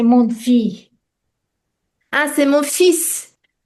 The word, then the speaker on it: fils: And here there is exception. L, we don't pronounce. Fils, fils. Donc, we write fils, fils with L, but we pronounce fils.